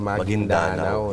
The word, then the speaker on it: Maguindanao: e kay kay goob hindi pala magindanao an magindanao yun pa ang tamang pronunciation go Ah magindanao yun